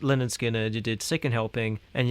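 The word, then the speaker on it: Lynyrd Skynyrd: Like like cuz you did the first three albums with them, so you did like uh Pronounced Leh-nerd Skin-nerd, you did Second Helping, and you did Nothing Fancy.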